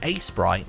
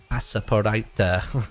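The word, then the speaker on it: Aseprite: This is called Asebright. It's spelled A-S-E-P-R-I-T-E. Every time I think it's spelled A-E-S-P-R-I-T-E because of the word sprite, but it's not. It's more like Asaporite, something like, I don't know.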